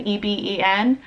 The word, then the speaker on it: Eben: EBEN. Is it like even? Does it rhyme with even? Or does it rhyme with Evan?